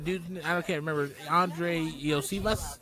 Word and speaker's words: Iosivas: Andre Iosivas? Is that how you say his name? Yeah. Yosivas. Iosivas from Cincinnati, especially with Chase's one-game suspension, that is going to probably lose the appeal.